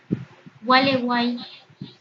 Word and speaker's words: Gualeguay: Gualeguay, A en medio de U y I, griega que tiene sonido vocálico de I, U y I serían vocales cerradas, entonces Gualeguay aquí se formó un triptongo.